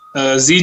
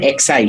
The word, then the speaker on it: Xi: Technically, if you go by the Greek naming system, this Omicron should have been called XI, she. Right. It's not pronounced she. In Greek, it's pronounced C, but technically it would have been Xi Jinping virus, right?